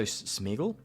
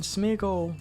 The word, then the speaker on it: Smeargle: power tablets back so smeagle yeah what is this lord of the rings um oh wait that's smeagle i said it right um we can smeargle some power tablets back